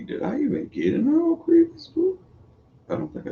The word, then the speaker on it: Ocrevus: I know a lot of people pronounce it different. I've heard a lot of people different, but my neurologist called it Ocrevus.